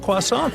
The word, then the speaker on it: croissant: They have a full range of yummy breads and buns, and yup, they got that croissant thing that most people can't pronounce right.